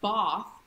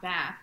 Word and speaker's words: bath: Well, Right. Right. "bath", not "băth".